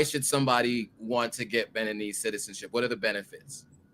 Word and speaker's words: Beninese: So why should someone get Beninese citizenship, or what is it, Benoit? How do you pronounce it?